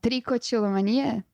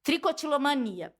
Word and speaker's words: tricotilomania: Eu te chamei aqui por um motivo em especial, que eu até esqueci como se pronuncia a palavra. Você pode falar a palavra? Tricotilomania? Tricotilomania, que é o advento da arrancação de cabelo.